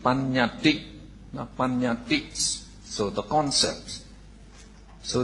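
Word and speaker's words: paññatti: So in Pali, so if you want to note, so we would pronounce it panyati.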